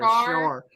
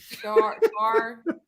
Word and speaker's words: chartreuse: I'm just throwing an S in there. Char. I'm throwing an SH in there. Char.